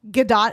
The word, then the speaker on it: Gadot: Gadot actually is how you say her last name.